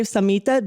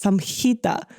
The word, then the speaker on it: Samhita: I feel like so many people say Samhita, but it's Samhita.